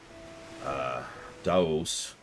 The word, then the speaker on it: Deus: And then Deus would be Daos.